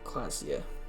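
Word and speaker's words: Klaasje: shawl orange perennials orange class c is pronounced classia i'm definitely going to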